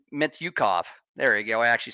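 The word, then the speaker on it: Mintyukov: Their forwards, guys like Zegras, guys like Terry, and even guys like Mityukov.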